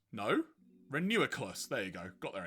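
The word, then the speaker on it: Reuniclus: a molola, the palendrome Pokemon because you can spell it both ways the same. Fun fact. Oh god. Uh, Renucleus. No, Renuiculus.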